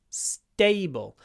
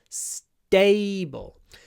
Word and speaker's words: stable: is serious but stable it's one of these t words what happens with a s Tut word we do a S quite a long s a little pause and then say da stable stable stable so it's not like a normal English T stable stable stable it's unaspirated after s stable most people people want